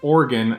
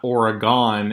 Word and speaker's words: Oregon: welcome entry wine with Vishwa tea because it's pronounced Oregon not Oregon East Coasters today we're gonna be talking about